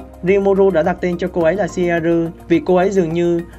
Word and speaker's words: Ciel: Oshiaru trong tiếng Nhật có nghĩa là dạy dỗ, và Shiaru là cách phát âm của tiếng Nhật.